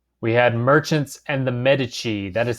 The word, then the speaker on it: Medici: So, we had merchants and the Medici.